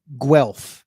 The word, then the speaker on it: Guelph: Guelph. Yeah. See, here in Canada, we're dumb, so we spell things so stupid. Sounds it's spelled with a U, but sounds like a W.